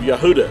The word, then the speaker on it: Yehuda: Yehuda and Yahuwah is that you add the letter D, or the letter Dalet, that's what it's called in Hebrew, in the name of the Creator, and that's how you get the pronunciation of Yehuda. Because if you just remove the Dalet or the D, it gives you the sound of Yahuwah.